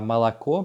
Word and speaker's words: молоко: On voit bien par contre la particularité donc, quand on prononce A, mais quand on écrit O. Par exemple, en russe, on dira молоко, mais on écrira avec des O, молоко.